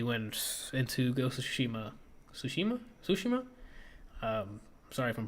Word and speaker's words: Tsushima: Then they moved back to the actual press conference and another musical performance about Ghost of Tsushima. So after the musical performance, they went into Ghost of Tsushima. Tsushima?